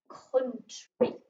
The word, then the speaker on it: country: week oh under you whereas in this word it doesn't make an owl sound it makes an uh sound and that is the word tree country okay so because we're